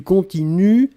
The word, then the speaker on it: continuent: prononcez je continue du continuent ils elle continue et ici le pluriel il continue u11 nt on écrit nt on ne prononce pas d'accord donc il continue